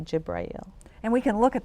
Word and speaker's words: Jibreel: So, the Arabic word for Gabriel is Jibrail, just for information purposes. Yeah. Yeah. So we say Jibrail.